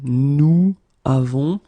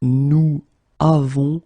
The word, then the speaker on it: nous avons: So we get this nous avons, okay? So nous avons, and then basically in that case, for, well, aesthetical and then practical reasons, we will make this little link between the two, and we will get nous avons. Okay, so nous avons will become nous avons.